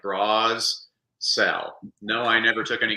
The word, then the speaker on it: Brassell: remember how to spell it's about like bras sell no I never took